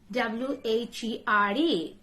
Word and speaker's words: where: vacancy vacancy the communism w-h-e-r-e just silent later age where where like which The Silent Age which can you pronounce this